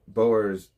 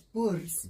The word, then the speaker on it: Boers: Moloto IRL said uh Boers sen white wine. I'm not saying that because it's not boers. It's bors. Bors. Well, I mispronounced it. B O E R S is not Boas.